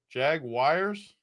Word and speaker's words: Jaguars: I thought Jaguar. Yeah. So, it is Jaguars. Is that what it is? Jaguars. Like wires. That's really how you say it, Craig. Jag wires.